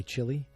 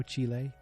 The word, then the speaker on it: Chile: the way from Chile I used to say Chile but I when you I hear it now Chile that's the much cooler way to say it and uh that's I